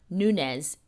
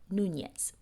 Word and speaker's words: Nunez: Let's let's let's move past my limitations on pronouncing Nunez, not Nunes.